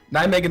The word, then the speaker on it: Nijmegen: So actually, before we move on, the team name Nijmegen Nuzleafs, indeed, that's how I would pronounce it.